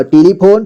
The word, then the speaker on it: टेलीफोन: यानी चिपकाने वाला फेवीकोल और यहां पे टेलीफोन टेलीफोन ट में ए की मात्रा टे इसके बाद